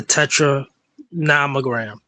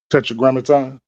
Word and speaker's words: tetragrammaton: There are certain aspects and one of these aspects say for instance people may talk about the tetra namogram tetetrogrammaton more likely I mispronounced it.